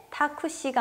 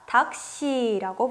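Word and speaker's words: タクシー: 그렇기 때문에 원래 발음으로 읽을 땐 타쿠시가 아니라 닥시라고 발음합니다.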